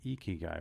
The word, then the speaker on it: ikigai: know we're talking about the japanese concept of ikigai we talked a minute ago that you had